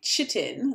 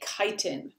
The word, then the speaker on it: chitin: there a small chitin it looks like chitin that's kind of how it's spelt but you say chitin um chitin is another